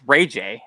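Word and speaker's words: RayJ: a underscore Y Capital J hmm Dennis that's Ray J right that's out that's not like this robbery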